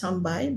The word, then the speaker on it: sambal: For example, the word sambai is pronounced as sambai, but when it's written out as sambal.